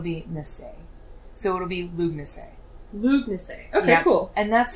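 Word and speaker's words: Lughnasadh: But yeah, so the DH is, any H that you see is silent, and DH just changes the vowel in front of it. Okay. Which is pretty interesting. But it's Lugnase.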